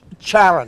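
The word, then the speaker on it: Charon: Sharon. Now, I never, usually they spell it S-H-A-R-O-N, Yes. but she spelled C-H-A-R-O-N.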